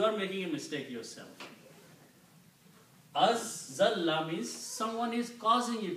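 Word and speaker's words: أزلّ: When you read, when there are two letters together, this is written and pronounced like this way. A, azalla. Azalla.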